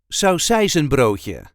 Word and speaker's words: saucijzenbroodje: sound more like this there is a light emphasis on the second part of the word so or without the